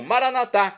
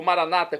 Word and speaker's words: Maranata: e agora eu clamo maranat como dizemos nós católicos ou Maranata como dizem nossos irmãos separados os evangélicos ou protestantes não importa pronúncia o